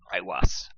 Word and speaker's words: Aiwass: paragon, Aiwas. Aiwas. It's spelled Aiwass. Oh man. So like all prophetic visions, it sort of nestles the word "us" in there, just to clue you in.